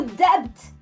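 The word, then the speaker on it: debt: O Dept mudo porque humanistas renascentistas acharam que vinha do latim debitum e eles estavam certos. Então, por isso que eles colocaram o B, mesmo ele não sendo pronunciado.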